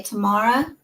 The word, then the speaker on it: Tamara: name was okay so it's like tomorrow tomorrow like tomorrow yeah it's pronounced that way Tamara from uh